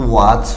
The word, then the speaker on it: watch: इसी तरह WATCH, यहाँ भी CS से पहले T है तो वॉच।